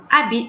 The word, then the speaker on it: habite: However, habite starts with a silent H. You don't pronounce the H. Habite.